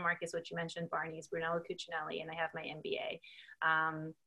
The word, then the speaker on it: Brunello Cucinelli: hope I'm pronouncing this correctly as well, but Brunello Cucinelli. You got it. Your pronunciation is on point.